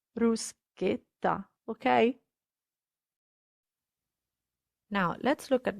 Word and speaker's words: bruschetta: is not bruce bruce italians never ever pronounce bruschetta so please don't say bruschetta it's ruskita okay now let's look